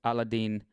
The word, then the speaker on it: Ala El-Din: Ali Abdelaziz, alternately spelled Abdelaziz, whose real name is Ala El-Din, pronounced Aladdin.